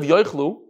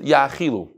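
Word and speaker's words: יאכלו: So, from the pasuk, and we have to, I put in parentheses, instead of yoichlu, we pronounce it yachilu.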